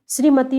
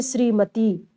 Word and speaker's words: श्रीमती: जैसे श्रीमती में छोटी एक मात्रा का प्रयोग हो रहा है, लेकिन हम उच्चारित कैसे करते हैं, श्रीमती, श्रीमती यानी बड़ी ही लगा देते हैं।